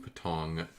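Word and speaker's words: Patong: How does he How do you pronounce it? Patang. Patang. Thailand. Let's Google search this and see where it's at. What's up? There it is. Patang.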